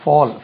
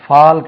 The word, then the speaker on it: fall: இது fall, fall கிடையாது, fall. tall, TALL tall, CALL call, call, HALL hall. அது ஹால், பெரிய ஹால் ஒன்று இருக்கு சொல்றீங்களா, அது ஹோல் என்று தான் உச்சரிக்கணும். HALL ஹால், கோல், டோல், ஃபால். இது ஃபால், ஃபால் என்றே உச்சரிக்கணும். கிட்டத்தட்ட எப்படியே தமிழில் ஃபால் அப்படி உச்சரிக்க கூடாது. ஃபால், கீழே விழுவது, ஃபால்.